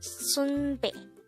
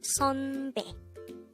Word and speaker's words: 선배: by a neon character again it's not sunbe with an u sound but it's sunbe with the a sound next for the second